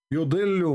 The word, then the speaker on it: يضل: Yudillu. What she is saying? يضل. Look, what the heck? This is يضل. what the heck? Yudillu.